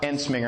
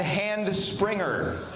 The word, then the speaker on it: Entzminger: You know, my name is Mark Enminger. Everybody say Ensinger. try growing up with a name that sounds like a sneeze.